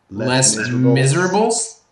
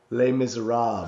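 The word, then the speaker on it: Les Misérables: like he's he's like how would you pronounce this and I was like um Les Miserables and he's like ha no L miserab and I was like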